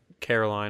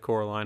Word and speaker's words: Coraline: get her name wrong they're gonna say Caroline instead of Coraline and that's gonna be